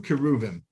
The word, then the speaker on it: cherubim: Okay, in the middle of that courtyard are two cherubim, cherubs.